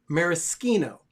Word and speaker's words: maraschino: of unique items here this is it's actually pronounced maraschino for liqueur i don't know why but they